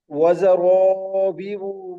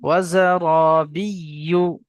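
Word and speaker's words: زرابي: ওটা তো হলো, তারপরে ওয়াজারাবিউ মার কি বিয়ু, এটা? এটা ঠিক বিয়ু না উচ্চারণ, বিয়ু, ওটা উচ্চারণ বিয়ু, করতে পারছি না আমি। ওয়াজারাবিয়ু।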